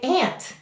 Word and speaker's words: aunt: Now in your dialect you might say aunt. And you'll notice aunt would be an exception to the phonograms and rules. However, many dialects of English say aunt.